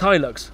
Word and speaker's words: Hilux: a real person looks it's pronounced Hilux cuz those are the two main question Roy's our farmer and he deals high Luxe's yeah and he comes